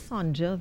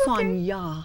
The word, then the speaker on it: Sonja: Pronounced. I always thought it was Sonja, though. I don't know why. But that's Sonja.